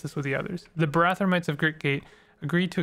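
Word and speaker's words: Barathrumites: I will discuss this with the others the barathomites of Great Gate agreed to accept this lens did you say barathamites so that's how it's pronounced Great Gate is a that's where Q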